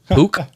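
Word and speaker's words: Puch: Oh, puke. Puke. Is it puke? I think it's puke. P U C H.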